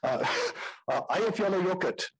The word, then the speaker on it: Eyjafjallajökull: Eyjafjallajökull. If you can't get that, just say, I love yellow yogurt.